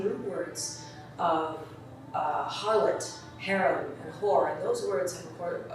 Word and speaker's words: Har: Had is h a r and it can be used like har.